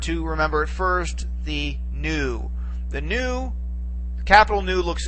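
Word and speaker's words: nu: V but it's not it's the letter new and it has an n Sound to it it's very easy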